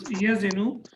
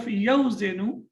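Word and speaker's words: يَزِنُ: Instead of yawzinu, the waw gets dropped and it becomes yazinu. And one of the reasons is it's easy to pronounce. Instead of saying yawzinu, it's easy to say yazinu.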